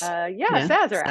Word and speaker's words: Sazerac: Well, I knew you were in New Orleans, so I made myself a Sazerac. So that's how you pronounce it, right? Yes. Sazerac.